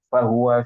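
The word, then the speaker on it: فهو: Harusnya bacanya dengan ha ya. Antara ha dan ha itu berbeda ya Kak. Ha itu di atas di sini ya. Ha itu di sini. Jadi fa'amma fahuwa fi 'isyatir radiyah.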